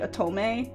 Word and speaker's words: otome: Also, I'm aware, I think I'm pronouncing it wrong. I think it's like otome is the correct pronunciation, but I've been playing them before I understood Japanese pronunciation.